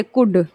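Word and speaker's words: could: सीओ यू एल डी यहां पर हमारा क्या आया है यू और एल पास में आया है तो हम एल का उच्चारण नहीं कर रहे हैं क्या हो गया ये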